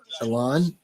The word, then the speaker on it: Elon: It's not Elon. It's pronounced Elon.